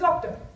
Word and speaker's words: Zoctor: It rhymes with doctor, so it's Zoctor.